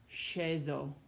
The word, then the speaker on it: sceso: When you see SCE in a word, that sounds like she, scegliere, sceso, pesce.